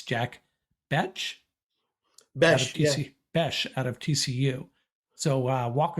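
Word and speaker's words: Bech: Caden Prather, the Felton's teammate at Maryland, and Jack, and we're deliberating how to pronounce his last name. We've decided it's Jack Besh out of TCU.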